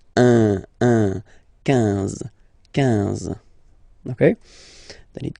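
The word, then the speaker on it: onze: 10, okay, then 11, 11, okay, so O plus N give you the sound on, 11, 11, okay, final E doesn't exist phonetically, 11, okay, 12, 12.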